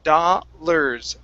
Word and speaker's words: dollars: you is dollars okay now you have the first part right that's going to be an ah sound but the ar is pronounced like an er so it's dollars dollars okay one more